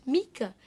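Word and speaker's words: Mieke: It's Mika, a common German girl's name, similar to our Michelle. It's not. It's not. I've asked German friends, I'm like, is Mika a common name?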